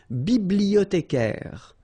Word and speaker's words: bibliothécaire: Then un bibliothécaire. Bibliothé, remember in French the H doesn't exist, so you don't pronounce it.